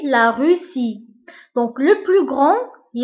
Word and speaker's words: grand: الصفة الثالثة grand grande. في الماسكولين grand والفيمينين grande. بالنسبة لغران هي كبير، و grande هي كبيرة. دونك grand ما كنطقوش دي grand، ولكن في الفيمينين كنطقوها، كنقولو grande.